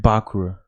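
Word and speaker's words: Bakura: so I am uh uh bakra right yeah am I pronouncing right you're more yeah yeah that's right that's right Yami bakra yeah from Yu-Gi-Oh uh he wears the millennium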